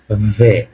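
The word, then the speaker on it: В: এটাই হল আমাদের ভ এটা দেখতে বি এর মত কিন্তু আমাদের উচ্চারণটা হবে ভয়ের মত অর্থাৎ এটাকে আমরা বলব ভে ওকে তারপরটা দেখেন এইচ এর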